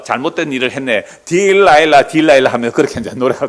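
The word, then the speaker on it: Delilah: 딜라일라. 그 들릴라를 영어로 발음하면요. 딜라일라.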